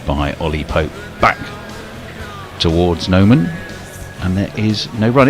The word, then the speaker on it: Noman: Back towards Noman, and there is no run. It is pronounced Nauman, of course, isn't it?